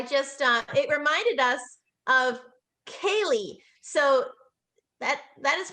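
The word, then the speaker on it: ceilidh: And I just it reminded us of Kaylee. So that is pronounced Kaylee, and it's a social event where there's Scottish or Irish folk music, singing, traditional dancing, and storytelling.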